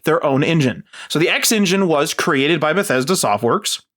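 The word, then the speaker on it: XnGine: the X X engine which is spelled x n g i n e so I'm just going to call it the X engine and this was one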